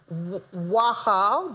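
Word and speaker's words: Waxal: It's Wahal, but it's spelled W-A-X-A-L.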